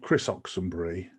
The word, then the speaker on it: Oxenbury: My guest today, is it Oxenbury? Is that the correct way of pronouncing it? It's Chris Oxenbury, but my friends call me.